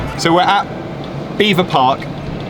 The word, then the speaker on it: Belvoir: haven't here we are beaver park it's about belvoir which is how the french say it um no they don't french say beaver park it's americans say belvoir correct b-e-l-v-o-i-r is belvoir i mean for my